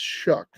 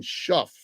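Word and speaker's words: Shough: Is pronounced shuck. Oh, it's shuck. I thought they were saying shuff.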